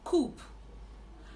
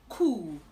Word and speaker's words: coup: Okay, the right to pronounce this word is cool, cool, cool. So, of course, you already know the P in this word is silent.